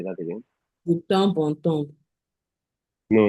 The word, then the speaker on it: de temps en temps: de temps en temps. No, not temps. The P is silent.